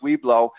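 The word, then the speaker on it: Weibo: Weebo WB, but it is pronounced Weeblo.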